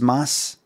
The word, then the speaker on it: Mads: sub but no thanks it's pronounced Mass you showed me how